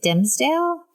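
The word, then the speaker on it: Dimmesdale: um which is one how how do you say his name is it dimsdale yes yes it's it's one of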